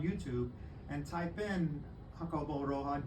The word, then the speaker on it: Roa: and uh my last name is Roa that's Roa that's that's the when I used to assign